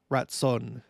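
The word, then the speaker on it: ratzon: desire ratson or with them the r is pronounced like in the back of the the like Latson you know Watson and uh this is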